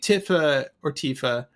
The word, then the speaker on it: Tifa: I always said Tifa growing up, and I think it's pronounced Tifa. So I'm just trying to go with Tifa. Say Tifa. The more commonly accepted one is Tifa.